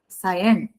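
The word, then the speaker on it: scion: सायन। ये प्रोनाउंस करते हैं सायन।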